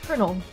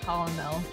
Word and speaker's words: Colonel: just Jay not thought Colonel I keep I keep forgetting his pronounce Colonel and not colel I seem to be